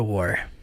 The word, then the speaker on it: war: Olha o jeito que ela fala a palavra war. Peter and Edmund will have gone to war. War. Ela fala war. Sotaque britânico. War. Não força o R. É hábito deles.